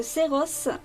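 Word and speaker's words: Xellos: Alors ici, c'est un fan art, du coup, du personnage de Xeros, ou Xelos, c'est la prononciation, de la série Slayers, que j'aime beaucoup.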